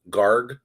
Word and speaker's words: Garg: correct pronunciation we didn't ask you how to pronounce your last name gar Gar yeah okay what do you think about